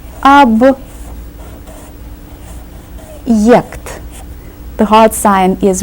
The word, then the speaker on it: объект: Объект. The hard sign is right here, and it serves as a word divider. It tells us to pronounce the first part separately and then say the second part separately.